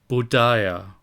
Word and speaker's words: Buddha: are of Unthinkable Merit Buddha in India is pronounced budia and in China is